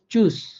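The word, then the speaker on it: Tschüss: এই 4টি ওয়ার্ড মিলে বা শব্দ মিলে উচ্চারণ হবে বাংলা স এর মতো করে। যেমন চুস, যেমন চুস।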